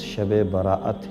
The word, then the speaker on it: شب براءت: بھی کہا جاتا ہے، جس کا تلفظ شب براءت ہے، یعنی براءت کی رات،